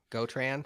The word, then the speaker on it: Gotran: ball like cobalt yep gotran rhymes with fortran it's like drupal forked